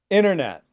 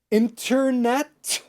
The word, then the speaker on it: internet: Internet. Now, did I say internet? No, I didn't. So I didn't pronounce the first T, and the second T I didn't pronounce.